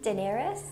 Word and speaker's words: Daenerys: and I'm not sure how you say it, Daenerys? Daenerys.